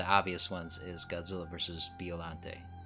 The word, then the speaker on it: Biollante: biollante I have to try to say biollante because I consistently say biollante even in my videos and then only after the fact I realized that I said it technically I said it wrong so I'm trying to